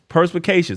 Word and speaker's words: perspicacious: it's a big word purse Pi K shus there it is perspicacious I was having a